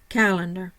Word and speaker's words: calendar: have Cal and dar my primary stress is on the Cal the first syllable no secondary stress the middle syllable is schah and the final syllable